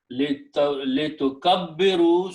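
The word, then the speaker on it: لتكبروا: Tukabbiru, because when you drop the noon, we just write an alif, which is not pronounced. So the word is li tukabbiru, so that you may glorify.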